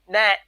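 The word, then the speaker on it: gnat: what again that is the g is silent nat it's a tiny little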